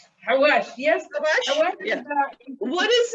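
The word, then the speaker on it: xawaash: I don't even know if I'm pronouncing it correctly, but sawash. Hawash, yes.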